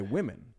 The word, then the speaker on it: women: it as yeah yeah even the word like we were talking about earlier women WN woman is how you'd think to say it just written down but we don't say that we say women right women woman well